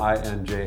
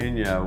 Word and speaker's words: Inja: time calling her and her name is spelled I nja a so I was like hi is inja there and she's like it's Ina get it like oh